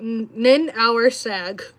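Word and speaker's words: Ninhursag: nothing like Christian theology goddess nin or nin hour sag this is n hour sag I was trying to figure out how to say it look at that nin hour sag W Lucas mod I've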